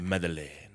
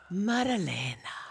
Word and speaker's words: Maddalena: No, but you're supposed to say it like, you know, like you're Italian, so you go Maddalena. Maddalena.